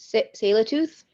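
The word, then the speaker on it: Tsleil-Waututh: Does anybody know how to pronounce that? Sailor-tooth? Oh, Sailor-tooth. Okay. All right. Cool. That's way better than.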